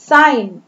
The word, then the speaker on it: sign: sign, SIGN, G is silent here, sign।